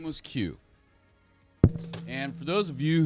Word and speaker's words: Qos: But really the way it's spelled is Qos QoS and it's just pronounced Q though.